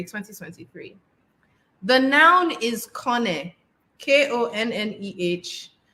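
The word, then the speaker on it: Konneh: The noun is Kone, K-O-N-N-E-H. To pronounce it, K-O-N, con, hyphen, N-E-H, ne, Konne.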